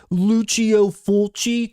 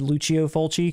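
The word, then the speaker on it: Lucio Fulci: Luchio Fulchi. Come on. Don't y'all have your Italian pronunciation down?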